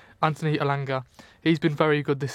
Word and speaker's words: Elanga: move on to Anthony ala because he's been also really alanga sorry yeah pronounce that wrong I'm very bad I pronounce the people's names Anthony alanga he's been very good